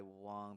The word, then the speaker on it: Wang: Wang. And I was kind of going through my own journey of like, I think I want to start going by Wang, but Wang is just what I've known my whole life.